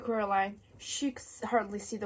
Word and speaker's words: Coraline: They got your name wrong, you know. They kept saying Coraline, not Caroline.